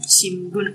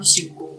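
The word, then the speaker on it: 新聞: Untuk majalah, Shimbun. Ini dibacanya Shimbun atau Shimbun, gitu. Karena N itu agak di belakang.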